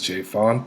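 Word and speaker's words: J. Fonte: This is J.Fonte, the E is silent, and today I'm going to show you how to make an easy slow cooker chili recipe.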